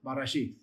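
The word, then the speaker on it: בראשית: Barashith. Your pronunciation, you just blend it together, but grammatically you separate it for the purpose of parsing it.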